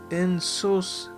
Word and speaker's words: insouciance: Insouciance. Oh, okay. That's how you pronounce it.